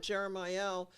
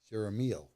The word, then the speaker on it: Jeremiel: we put the accent on the L, which is of God. Of God. L-E-L at the end of every angel's name means of God, except for Metatron, Sandalphon,